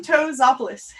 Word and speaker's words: Kontozopoulos: Kontozopoulos. Kontozopoulos.